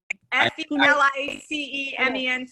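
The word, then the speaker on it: félicement: Well, now you want me to pronounce it? I know, this is the problem, right? Okay. F-E-L-I-C-E-M-E-N-T. Felicements?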